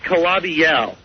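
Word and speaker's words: Calabi-Yau: It's pronounced Calabi-Yow. Calabi-Yow. Yow. Like yow. All right, what's that even mean?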